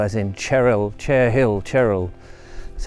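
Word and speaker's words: Cherhill: monument or the cheryl which i was calling chur hill but i've been told it's cheryl as in cheryl chair hill cheryl that's how the locals pronounce it monument which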